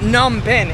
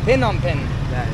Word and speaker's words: Phnom Penh: Okay, so it's not Phnom Penh, it's Phnom Penh.